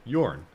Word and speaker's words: Jorn: Germanic languages and everything, they all pronounce the J not as a J, but they pronounce it as like a Y.